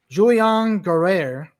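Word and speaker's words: Julien Guerrier: And my more dark horse pick, and you were telling me how to pronounce this. I'm going to say the Frenchman. I'm going to see if I say Julian Guerrier.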